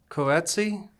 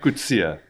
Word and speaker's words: Coetzee: I would say Coetzee? It's a common way of mispronunciation. Okay, how do you say it? Coetzee.